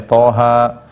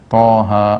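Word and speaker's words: Taha: Hamim, ya, banyak, ya, Toha, Yasin, ya. Dan ini banyak dalam Al-Quran, ya. Seperti Toha, ya. Kemudian apa? Yasin. Dibacanya bukan toh, dibacanya bukan yes atau yes, bukan.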